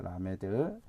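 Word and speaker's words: למד: 그래서 크 발음이 난다고 보면 되겠습니다. 자, 12번째 자음입니다. 12번째 자음은 라메드입니다. 라메드 이렇게 쓰고요.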